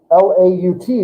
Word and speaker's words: Laut: So now you're going to see words in the vocab list, and you're going to say, L-A-U-T. Well, A-U makes an ow sound, so L-A-U-T makes us what? Laut, right.